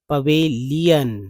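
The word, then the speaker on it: pavilion: लेकिन यहां देखिए पी ए वी आई तो पब लायन नहीं पवेलाइन नहीं पवेलियन लीयन ही पढ़ेंगे।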